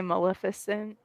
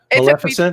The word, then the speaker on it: Maleficent: I say Maleficent. No, you said it right. Maleficent.